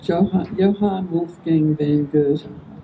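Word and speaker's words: Johann Wolfgang von Goethe: Going to start with a quote by Johan Wolf Gang Van Gert is how you pronounce it.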